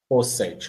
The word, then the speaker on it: Rossetti: Como se fala o seu sobrenome? Rossetti, ótimo. É porque tem 2 S's e 2 T's, tá bom.